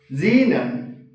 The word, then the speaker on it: xenon: a r organ krypton xenon rad to pronounce this one is xenon. Okay, you may have some difficulty that is XC Zen Xen. Okay, Xenon.